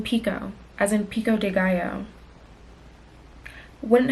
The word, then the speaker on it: Picoult: are going to read Mad Honey by Jodie Pickled. Pause. Let me go see how to pronounce her name. Pause. Pause. Pause. Pause. Pause. That's really crazy because if you didn't know, she pronounces her last name Pico, as in Pico Deayo.